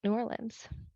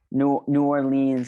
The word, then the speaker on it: New Orleans: Like, what's it like being Jewish in New Orleans? Or New Orleans? So, how do you say it? New Orleans. Yeah. New Orleans is how the tourists say it.